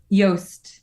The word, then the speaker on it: Yost: Oh, sorry, we've been saying your name wrong. Yost. Yost. Oh, Yost. I'm so sorry. I've always said Juiced.